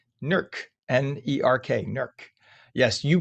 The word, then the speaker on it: Newark: Uh and as Mike said, 66 degrees in Newark, or as the people there call it, Nerk. Nerk, n e r k, Nerk.